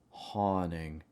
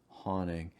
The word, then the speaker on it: haunting: little bit high ah haunting haunting you can also say haunting but because that t is after the n you want to make sure the t is silent haunting haunting hill watch